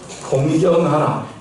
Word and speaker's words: 공경하라: 이 발음을 잘 하셔야 돼요. 내 부모를 공격하라가 아니고 공경하라 입니다.